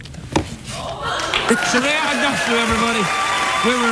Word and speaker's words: Aghdashloo: You're familiar with Ugg boots. Ugg boots, yes. Say Aghdashloo. Aghdashloo. That's it. Shohreh Aghdashloo, everybody.